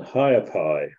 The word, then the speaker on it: Ha'apai: aiowa which is spelled e apostrophe UA and higher Pi which is spelled h a apostrophe a p-a-i so they